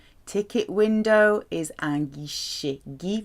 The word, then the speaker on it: guichet: Ticket window is un guichet. Guy, remember G-U, followed by I is a hard G. Followed by I or E, G-U is hard.